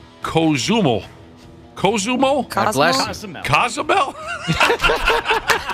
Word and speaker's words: Cozumel: You get on that boat, you go from Miami to Cozumel, that's how you say it, in January, and there'll be live wrestling matches.